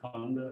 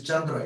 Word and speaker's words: Chandra: Really, that's But we pronounce them the Tibetan way, so. yeah, I know. So is it Chanda, not Kanda, as written?